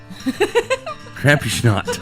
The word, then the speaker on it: Krampusnacht: I don't even know how to pronounce this first one. What is it? Krampusnacht. Krampusnacht.